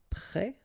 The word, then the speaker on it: prêt: Then you get prêt, like that, so final S, but then of course you don't pronounce it.